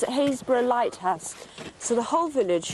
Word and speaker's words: Happisburgh: Tomorrow at 2:30, make a pot of tea at the how do you pronounce it? Happisburgh Lighthouse.